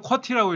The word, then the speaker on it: QWERTY: 이걸 읽으면 콩글리시로 쿼티라고 읽어. 쿼티.